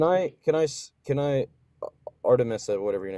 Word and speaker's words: Artemis: Can I can I can I Artemis or whatever your name is. Is that how you say it? Artemis. Artemis.